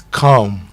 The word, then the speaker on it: calm: the board on the So you say it's calm. It's calm. So the L is silent.